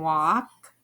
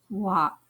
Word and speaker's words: walk: wall tall talk walk in talk and walk the l is silent we don't hear it talk walk the a sound can